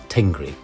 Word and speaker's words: Tengri: dominant in our country the word God was formally pronounced as tingri good tengry also believed in